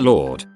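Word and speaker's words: leeward: Like Leewood is pronounced Lord and Bosan is pronounced Bosan.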